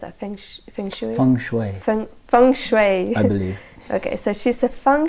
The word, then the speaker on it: feng shui: Shui experts feng shui expert how do you pronounce our friendship song Shui from Fung Shui okay so she's a Fung Shui expert so